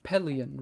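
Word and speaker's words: Pellaeon: Pellion is pronounced 10 different ways too. But it is Pellion, right? Mhm. Yeah. That's how you should pronounce it.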